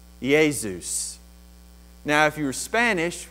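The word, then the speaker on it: Ἰησοῦς: If you're a Greek person, you would pronounce it Iesus. Iesus.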